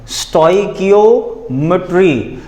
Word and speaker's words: stoichiometry: देखें बेटा, इसको हमने पढ़ना है STOY स्टॉय और KEEO स्टोइकियो, और जो मिट्री है ये तो हम इजीली पढ़ लेते हैं और वो है ये और ट्री, ऐसे मिट्री। ठीक है जी, मिट्री, इस तरह से हम इसको पढ़ लेते हैं। तो हमारे पास ये एक्चुअल प्रोनाउंसिएशन ये है स्टोइकियोमेट्री।